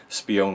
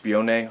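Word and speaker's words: Spione: and he said that I'm pronouncing spean wrong well I didn't imagine this beyond was how you pronounced it but I think it's be owning something like that either way spies Fritz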